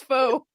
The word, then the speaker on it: faux: Like, no, that's not fox. It's faux. So, oh gosh. I love that. Okay. Faux leather, not fox.